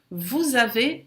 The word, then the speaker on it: vous avez: O vous sozinho ou na frente de uma consoante não pronuncia o S, mas aqui vem em frente de uma vogal, vamos fazer a liaison, o S tem o som de Z.